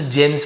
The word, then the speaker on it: gems: जेम्स, जी के साथ ई हो, आई हो, एम हो, तो जेम्स पढ़ेंगे, गेम्स नहीं पढ़ेंगे।